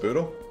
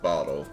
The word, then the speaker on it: Boodle: Boodle. It's nice to have a new client. Yeah. Know, I think I pronounced like ble. It's not bottle. You got two O's in there.